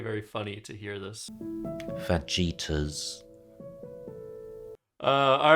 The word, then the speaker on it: fajita: The correct pronunciation, I believe, is fajita.